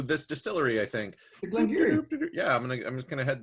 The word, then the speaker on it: Glen Garioch: distillery making it, and they are quite adamant it's Glen Garioch. Glen Garioch. Yes, Giri.